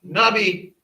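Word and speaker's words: נביא: Nun, bait, yod. Nabi. All right. Reason why the I is used here is because this is a vowel. Anytime you have a yod in the middle of a word, it's a vowel.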